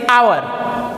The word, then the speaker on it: hour: Because H is silent. Okay, so the pronunciation of this word is our.